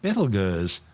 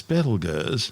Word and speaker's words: Betelgeuse: Currently known as Betelgeuse, and commonly referred to by the public as Betelgeuse, don't say it 3 times, the names are both tortured mispronunciations of the original Arabic name Ibtal Yauza, meaning the hand of